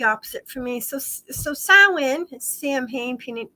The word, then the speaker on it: Samhain: So Samhain, Samhain, which, like I said, it looks how it's spelled, should sound, but it doesn't. It's Samhain.